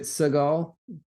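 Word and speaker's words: Segel: and Mackinac and Mackinaw it's spelled s-e-g-e-l hmm is it Segal anyway he's bad man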